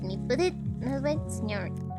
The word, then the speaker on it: señor: Actually, some people do pronounce it like señor y señora, like with E, but that's like just local pronunciation. The correct pronunciation is señor.